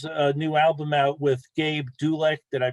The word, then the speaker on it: Gabe Dulek: Brian has a new album out with Gabe Dulek. Did I pronounce his name correctly?